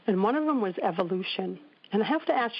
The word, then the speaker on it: Evoloshen: And when we were naming our company, which is called Evolution, the name actually is spelled EVOLOSHEN. So it's got Volo in it.